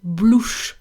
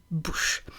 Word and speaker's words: bouche: And then she's also adding a letter to the word bouche. She's saying blouche, blouche, when the word is bouche.